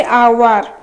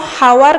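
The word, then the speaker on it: hour: Next अछि आवर जो घंटा केतरा बाजिला 5टा बाजिची ताने आवर आवर टा आमे को हावर कहउचंती आमे कोन कहउचंती आवर कहउचंती ताले आवर रे एच टा रहिला साइलेंट।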